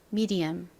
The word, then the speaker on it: medium: 옵니다이가 여기서이 소리로 쓰였어요 다음 D 부분은요 디귿 소리 나는가 오고요 그리고 모음은 아가 옵니다 아 역시이 단어에서이 소리로 쓰였죠 미디 제일 끝은 어 소리 나는 에다가 미음 받침이 옵니다 미디엄 발음 따라해 보세요 중간 미디엄 미디엄 같이